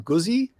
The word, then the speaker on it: Guzzi: And the daily ride is the, how do you pronounce that, Jason? Guzzi?